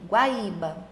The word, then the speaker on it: Guaíba: Se o i e o u forem precedidos de ditongo crescente, o acento permanece. Então, acontece também em Guaíba e Guaíra, que está rolando aqui. Guaíba.